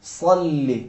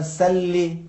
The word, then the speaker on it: صلی: صلی. اگر سلی کہیں تو معنی بھی چینج ہوتا ہے. تلوار کھینچو، جنگ کرو. صلی یعنی درود بھیجو.